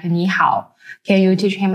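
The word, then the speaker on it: 你好: nice to meet you KNE how is pretty straightforward to pronounce it sounds like KN how just make sure to keep the KNE part high and then go down and pitch on the how give it a try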